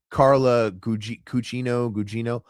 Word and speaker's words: Carla Gugino: Carla Gugino.